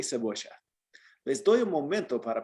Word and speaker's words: cebolla: It looks like cebolla, but you said cebocha? Cebolla. Cebocha. Yeah, that's the Argentine accent.